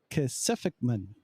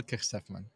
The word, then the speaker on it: Kejsefman: Kejsefman. No, not even close. That was pretty close. Go for it. How do you say it? Kejsefman.